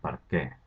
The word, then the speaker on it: per què: Primer de tot, fixeu-vos que sempre va amb accent obert a la E, sempre, i es pronuncia per què, amb l'accent tònic a la E.